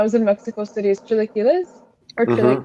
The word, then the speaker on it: chilaquiles: Yeah, actually, one of my favorite dishes that I had a lot when I was in Mexico City is chilaquiles. Or How do you pronounce it properly?